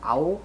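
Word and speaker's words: awl: Okay, it is supposed to have a brass, I think it's owl, is how it's pronounced, and hammer to easily dismantle the sword.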